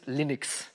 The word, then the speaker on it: Linux: is lonus tools and I pronounced Linux Linux because people said Linus and Linux would would miss the pronunciation and so like back